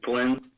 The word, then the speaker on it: Flinn: can I have you state your name and maybe spell it for us for the record as well? Flynn, that's FLINN.